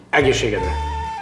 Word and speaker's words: Egészségedre: Egészségedre.